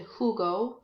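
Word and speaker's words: jugó: say he hopefully said who go Ju geo accent on the oh boom nuevo who a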